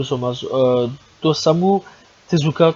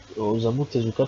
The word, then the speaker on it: Osamu Tezuka: du manga aussi l'enfant aux trois yeux de santos hameau tezuka qui simplement excusez moi je trouve que la prononciation dégueulasse osamu tezuka simplement voilà bref donc voilà c'est à dire